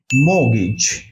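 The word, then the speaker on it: mortgage: এম ও টি জি এই জি মর্গেজ এটার উচ্চারণটা হচ্ছে মগিজ মগিজ যেটাকে আমরা বাড়ির ঋণ বা গৃহ ঋণ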